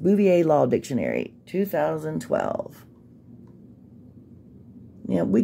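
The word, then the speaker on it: Bouvier: think it's bouier is what it's called it's pronounced bouier Law Dictionary 2012 now we get what you're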